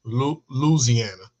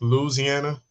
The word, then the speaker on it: Louisiana: But I've heard people say Luciana like without the I like when I hear like the Popeyes commercial Louisiana.